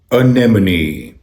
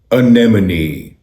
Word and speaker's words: anemone: इस वर्ड की सही प्रोनाउंसिएशन है अनेमनी, अनेमनी, अनेमनी, a name a knee, a name a knee, a name a knee, anemone, anemone, anemone.